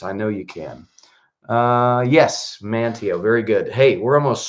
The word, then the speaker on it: Manteo: Now, Monteo, am I pronouncing that right? Manteo.